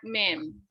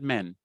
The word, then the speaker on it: mean: Not men. Mean, all the way to the E, right? The smiling vowel.